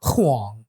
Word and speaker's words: Huang: what's it like being white with the last name Wang? Well, we're not married, Oh. so We I pronounce don't. it Huang.